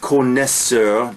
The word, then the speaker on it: connoisseur: Connoisseur, French word, pronounced connaisseur, despite the O-I in there, which is really connoisseur.